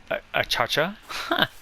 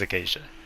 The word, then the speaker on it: acacia: Some people say achacha. I think it's acacia.